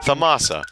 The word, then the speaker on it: Thamasa: It's Thasama. Thamasa. I thought it was Phasma. Wow, strangers! Alright, I always pronounce it like Phasma.